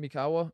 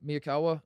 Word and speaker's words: Miyakawa: and uh evan me why do you say his name evan mikawa miyakawa yes my apologies to evan